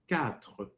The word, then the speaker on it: quatre: The short way is quatre. You don't have to say tre. Just say quatre.